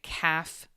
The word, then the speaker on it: calf: like this and ignore the L. We don't pronounce the L. So we would say calf calves and then toe toe little toesies a toe.